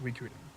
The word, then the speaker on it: Suikoden: So, it's actually pronounced Suikoden.